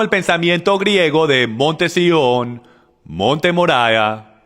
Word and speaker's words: Sión: el monte sión y mucha gente lo llaman el monte de sayán pero es pronunciado el monte sión y el monte sión